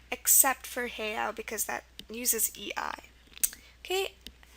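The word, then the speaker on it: heiau: the word for that it's pronounced heo it's h e i a u and here an EI is used for the a sound so this is the only exception word everything else is going to spell a with an E so the sound a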